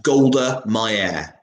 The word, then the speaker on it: Golda Meir: That's Golda Meir. And that's how you pronounce it.